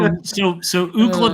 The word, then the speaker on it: Ookla: So Ookla the Mock is named after UCLA, and that's the phonetic pronunciation of UCLA is Ookla.